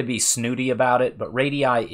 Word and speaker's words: radii: You will hear me say radii or radiuses back and forth. I don't mean to be snooty about it, but radii is technically the correct pronunciation, but I accept radius's language changes, and that's fine too, and everybody knows what you mean.